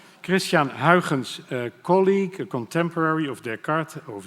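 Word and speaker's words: Christiaan Huygens: Christians to name it only a Dutch Can pronounce correctly Christian Hawkins colleague contemporary of Descartes of Newton multi-gifted person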